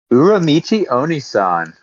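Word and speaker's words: Uramichi Oniisan: Uramuchi Onisan. Let me see that. Get your wife in here and have her pronounce it. Uramichi Onisan.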